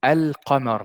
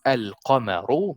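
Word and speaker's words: القمر: So al-qamar means, if you listen to me saying it, I said the lam completely. Al-qamar, and it's pronounced al-qamaru because there is a dhamma here.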